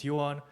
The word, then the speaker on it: Heewon: Hi, my name's Heewon. It's pronounced like the opposite of she lost is what I've been telling everybody.